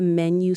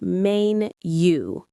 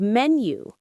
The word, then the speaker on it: menu: If your friend is reading the menu slowly, you can say take your time.